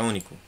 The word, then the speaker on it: único: Mas qual é a sílaba mais forte aqui? U. U. Ni. U, ó. Único.